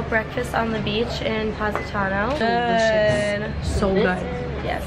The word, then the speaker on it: Positano: Positano.